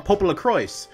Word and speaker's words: Popolocrois: me I guess I'm been saying it wrong Pop La cro okay well as a matter let's begin a